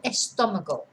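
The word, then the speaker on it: estómago: um but it's masculine there's an accent on the o the first doe so that tells us where to stress the word el estonico okay so this word is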